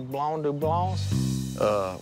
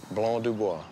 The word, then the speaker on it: Blanc du Bois: This is Blanc du Bois. That's the name of this grape. Blanc de who? Blanc du Bois. It's a wine grape. All these are Blanc du Blancs? Blanc du Bois.